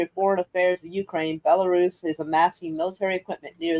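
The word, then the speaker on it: Belarus: of a tomato tomato is it bellarus or bellaris like I think it's bellarus allarus amasses a military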